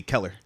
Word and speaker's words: Keller: my pronunciation of Keller how do you say color like color you say Keller Keller yeah it's not like killer a little bit or like